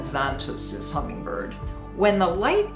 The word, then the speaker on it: Xantus: Szantos is how you pronounce it in Hungarian, but we call it Xantus as hummingbird.